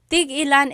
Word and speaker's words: tig-ilan: So, tig-ilan, when there's a hyphen in it, you have to have that glottal stop. Tig-ilan. That means how many of each.